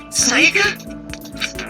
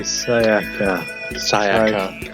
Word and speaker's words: Sayaka: Are you okay, Sayaka? Like I said. I get triggered by pronunciation. It's Sayaka, not Sayaka.